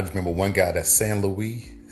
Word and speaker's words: St. Louis: And I just remember one guy that's San Louie. It spelled like St. Louis.